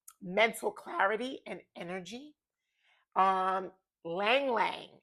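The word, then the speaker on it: ylang-ylang: Um, Lang Lang is spelled Ylang. Lang Lang.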